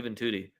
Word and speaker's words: Juventude: How do you lose to Juventude? Their name literally rhymes with booty.